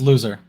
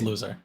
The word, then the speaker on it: Lauser: So just to do a correction real quick, it's actually pronounced loser, and he that's his last name. That is loser.